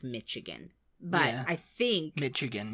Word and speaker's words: Michigan: any Americans out there call it Michigan, like a TH kind of sound? No. Or is it SH? It's Michigan. Yeah, it's Michigan.